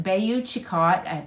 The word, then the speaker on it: Bayou Chicot: pointing it noted that FM Cheney died in Bayou Chicot that's how you say it Louisiana but it